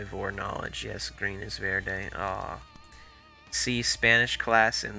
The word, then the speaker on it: Verde: Like when Vorde is. This sounds like someone pronounced green wrong in Spanish, which I'm pretty sure that's Verde, right? Green is Verde.